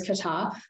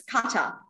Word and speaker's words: kata: That was the first time I heard it being pronounced that way. So it's kata. That's a new twist to the pronunciation.